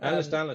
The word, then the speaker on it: Ehlers-Danlos: with, and I might be saying this wrong, Ehlers-Danlos syndrome. Is that how you say it? Yes, Ehlers-Danlos syndrome. Ehlers-Danlos syndrome.